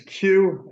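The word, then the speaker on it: Khue: present sir hello afternoon sir would you mind pronouncing your client's name for us correctly sure it's Q um k k h u e and the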